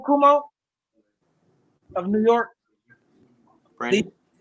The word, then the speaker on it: Cuomo: Is that how you pronounce his name, Cuomo? Of New York? Brandon? Cuomo.